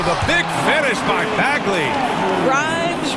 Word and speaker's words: Grimes: Grimes rhymes with dimes on time.